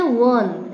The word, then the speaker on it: one: लेकिन जब हम इसको प्रोनाउंसिएट करते हैं, उच्चारित करते हैं, बोलते हैं, तो इसे हम कैसे बोलते हैं? 1, ऐसे बोलते हैं ना, 1। तो ये W का साउंड इसमें आता है, ठीक है, व